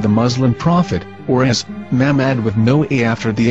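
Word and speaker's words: מחמד: Muslim Prophet or as mammad with no a after the H according to Ben yehuda's Hebrew English dictionary it is correctly pronounced as Muhammad not mammad here is the famous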